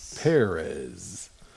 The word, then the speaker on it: Perez: that George Perez would have drawn, for correct pronunciation. Perez.